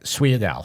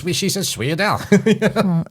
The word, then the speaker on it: sfogliatelle: But if you're going to pronounce it the way it's spelled, it would be sfogliatelle.